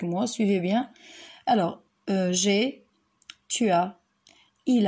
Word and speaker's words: tu as: Très bien, il faut respecter aussi l'enchaînement, c'est-à-dire on va dire tu as, il a, elle a. Très bien. Regardez ici le S, ici, le S n'est pas prononcé, on ne dit pas tu as, tu as, d'accord?